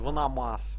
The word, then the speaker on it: Ваномас: Правильно произносите? Ваномас, а не как-либо иначе, чтобы вы знали.